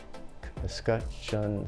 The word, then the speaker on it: escutcheon: Do you know how to spell that? E-S-C-U-T, escutcheon, C-H-E-O-N.